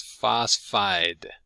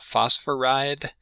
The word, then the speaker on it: phosphide: and the name is phosphide. If you said phosphoride or phosphoricide, I wouldn't blame you, but almost always it's just 2 syllables.